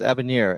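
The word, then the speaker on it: avenir: It's abaner and by the way it's a French word.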